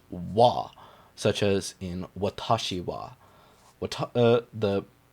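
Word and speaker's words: は: boop boop and boop when this is a particle though it is actually pronounced wah such as in watashi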